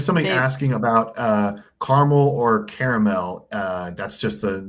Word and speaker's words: Carmel: There's a 2-syllable way and there's a 3-syllable way.